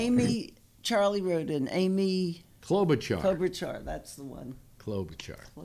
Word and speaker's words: Klobuchar: They can't pronounce it either. Neither can I. It's Klobuchar.